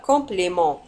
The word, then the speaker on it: compliment: الإطراء هو compliment. ولاحظوا على أن compliment تنتهي بالت ولا تنطق.